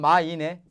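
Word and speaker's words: 买: 살매자를 중국 발음을 하려니까 매자를 풀면 마이네. 네.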